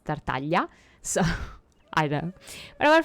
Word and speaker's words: Tartaglia: stuff it's like that it's not tartaglia it's tertalia so I don't but